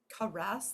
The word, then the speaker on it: caress: did I see it caress that's a tricky word um because the accent is in the this is a French word the accent is in the second syllable which means the schah is right here so they might read